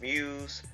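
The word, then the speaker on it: μ's: school idol group called Muse uh pronounced Muse uh of course it says it has a u but it we you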